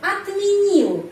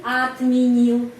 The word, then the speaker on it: отменил: Я бы отменил lagi huruf O pengucapannya A. Kenapa? Karena penekanannya di sini pada huruf I, jadi отменил.